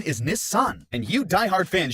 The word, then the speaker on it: Nissan: it as the 240Z in America we're all pronouncing Nissan very wrong because the correct pronunciation is Nissan and you die hard fans should really know